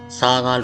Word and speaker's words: ဆားခါး: it’s pronounced as “Sa-khar,” but to avoid confusion for some friends, I’ll refer to it as “Sar-khar.”